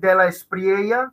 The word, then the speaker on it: de la Espriella: Yeah, so my name's de la Espriella.